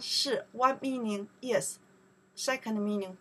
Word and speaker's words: 是: 你们是 You are 是 is are in that case. 是 This character we pronounce 是 right?